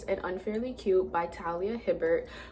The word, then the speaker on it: Hibbert: And it is Highly Suspicious and Unfairly Cute by Talia Hibbert. Whenever I see her name, I always want to say Herbert for some reason, but it's obviously Hibbert.